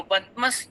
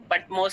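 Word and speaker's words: Patmos: दिखाई देते हैं, जो पतमस टापू पर रहता है। और उस पतमोस टापू बोलते हैं, इंग्लिश में पटमोस, अलग अलग प्रोनाउंसिएशन है।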